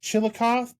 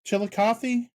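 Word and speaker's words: Chillicothe: uh, coming up and I am going to butcher the name of the town. Is it Chilikoth? Chilikothy.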